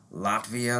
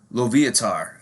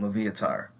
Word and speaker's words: Loviatar: Her name's, I think, Latvia, or I'm probably pronouncing her fucking name wrong. Loviatar, that's her name, Loviatar.